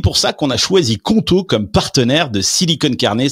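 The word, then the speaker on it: Qonto: Et c'est pour ça qu'on a choisi Conto comme partenaire de Silicone Carnet cette saison.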